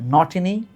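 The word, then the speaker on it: Ntini: খেলে সাউথ আফ্রিকার দলে, এন্টিনি খুব বিখ্যাত ছিল। উচ্চারণটা এন্টিনি বা এনগিডি না, উচ্চারণটা হচ্ছে নটিনি নগিডি, তার মানে লুঙ্গি নগিডি, মাখায়া নটিনি, এই এনক্রুমা না, উচ্চারণ হচ্ছে নক্রুমা, ঠিক আছে।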